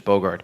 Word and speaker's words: Boogaard: I always pronounce Boogaard by the way it's really pronounced, which is Bogard.